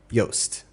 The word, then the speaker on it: Yoast: Now I want you to type in Yoast. Rhymes with toast.